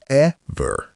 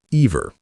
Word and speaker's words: ever: And the same with ever. It's ever, not ever.